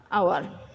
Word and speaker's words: hour: এখানে এ বা এন, যেহেতু এই যে এই এখানে এইচ এর উচ্চারণটা ওর মতো হয়েছে, সুতরাং এ ব্যবহার না করে এখানে এন ইউজ করতে হবে। হি drives the কার 60 kilometres an আওয়ার।